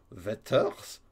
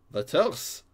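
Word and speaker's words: Werther's: Fait que c'est vraiment Wetters. Wetters. Mange tes Wetters. Ben, je serai encore plus mauvaise pour le prononcer. Ça vient de la ville de Wetter, en Allemagne. L'important, c'est de le prononcer comme si tu étais fâché.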